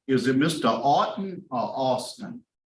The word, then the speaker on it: Autin: Autin or Austin? No, it's pronounced Autin. Autin. Okay, Yes, Mr. it's Autin. French, yes.